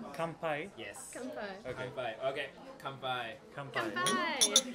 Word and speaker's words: kanpai: Kanpai. Kanpai?